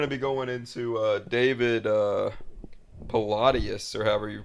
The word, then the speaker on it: Paulides: Well, yeah, I mean, and we're going to be going into David Palladius, or however you pronounce his last name, the one that It's did the. Go ahead. It's David Paulides.